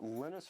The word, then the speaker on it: Linus: When I speak English, it's Linus. And I really don't care how people pronounce my name.